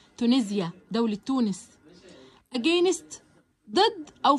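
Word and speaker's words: Tunisia: الاس هنا بتتنطق كأنها بساوند الزد علشان بين حرفين متحركين، شايفين حرف الاي قبلها حرف الاي ايه بعدها. تونسيا دولة تونس.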